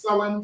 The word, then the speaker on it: Samhain: People it's pronounced start Samhain, but the proper pronunciation, how the council have said it, is Samhain.